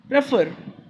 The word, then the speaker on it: prefer: See, prefer has two sounds. Prefer. Okay, two syllable word है, and we learned that in two syllable words, if the second syllable is stressed, यहाँ पे second is stressed, right? Prefer. We don't say prefer. We say prefer. So second one is stressed.